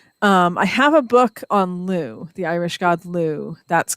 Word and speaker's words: Lugh: No, it's Lugh. Okay. But it's pronounced Lu.